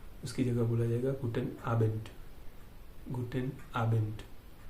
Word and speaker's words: Guten Abend: यहाँ पे एन में डी है लेकिन जब बोलेंगे आप तो ट होगा, उसका प्रोनाउंसिएशन में ट होगा उच्चारण। ठीक है, उसका उच्चारण ट होगा, गुटेन आबेंड।